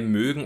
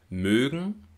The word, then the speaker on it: mögen: Höhle die Hölle und auch bei mögen und möchten wird der Unterschied deutlich wenn wir also sagen zum Beispiel wir mögen das nicht dann sprechen wir den langen gespannten ölvokal wenn wir aber sagen wir möchten das nicht oder ich möchte das nicht dann sprechen wir den kurzen ungespannten Vokal mögen möchten Ö in